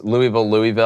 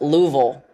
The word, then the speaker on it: Louisville: And I pronounce Louisville. I've just always done that. Louisville Slugger. It's hard for me to say Louisville. It's just weird for me to say it. I pronounce it Louisville. I thought it was just Louisville. It is technically. It's like Illinois. It's not Illinois. It's Louisville. I just am not saying that.